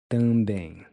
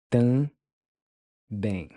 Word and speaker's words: também: Notice how I'm not pronouncing the M like in English.